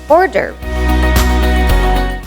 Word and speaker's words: hors d'oeuvre: Hors d'Oeuvre. It's a small, savory appetizer, usually pronounced as Hors D'Oeuvre or Hors D'Oeuvre, but you need to drop a lot of letters and just say hors d'oeuvre.